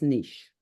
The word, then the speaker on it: niche: if it doesn't fit its Niche or nich how however uh you say it there's two pronunciations so you always have